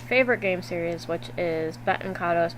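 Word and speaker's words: Baten Kaitos: game series which is Bon kados Bonos however it's pronounced um I pronounce it Benton kado so if you don't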